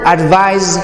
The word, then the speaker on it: advise: The word advise is a verb and has a z sound at the end, and it means to tell someone what you think they should do.